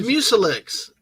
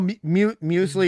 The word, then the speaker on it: muesli: Oh, I thought it was Mucilix. So there's something called muesli. No, muesli is the proper name.